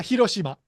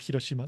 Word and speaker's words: Hiroshima: Kyoto to hirosima or hoshima how do you pronounce that place uh Hiroshima hirosima so you plan to do a walk